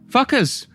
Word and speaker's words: FCUKERS: And we are very pleased to have with us FCUKERS.